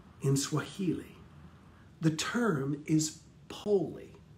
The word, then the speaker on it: pole: swahili the term is poli p-o-l-e poli it's pronounced poli in swahili not pole we spell it poll